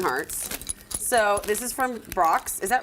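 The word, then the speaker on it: Brach's: friends themes conversation hearts so this is from Brock's is that right is that how you say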